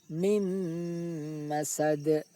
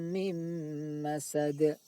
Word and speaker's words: mim masad: Tidak boleh dibaca min masad, tetapi mim masad. Fi jidha hablum min masad. 2 Quran surat 111, masih Quran surat 111 Al-Lahab ayat 5. Fi jidha hablum min masad.